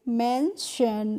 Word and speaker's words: mention: अब है MENTION, तो इसको हम पढ़ेंगे मेंशन। यहाँ पे जो TION होता है उसका प्रोनाउंसिएशन होता है शन करके, ट्योन करके नहीं होता है, शन करके होता है।